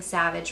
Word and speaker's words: Savage: Katy collection it's savage which you might think I'm pronouncing Savage wrong but that's how they say to pronounce it they have the accent mark over the a so Savage okay and I my